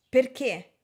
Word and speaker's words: perché: Allora, caffè, caffè, caffè. Vedete la mia bocca si apre, caffè. Perché? Perché? Perché? Caffè. Perché? Il suono è diverso, ok?